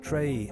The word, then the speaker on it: Tyree: In what appears to be an unfortunate case of mistaken identity, Tyree's name is pronounced Trey, and Mitchell goes by